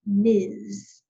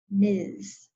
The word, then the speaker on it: Ms.: The only one that is abbreviated that is close to this, it's pronounced Ms., Ms., which is just M-S, period.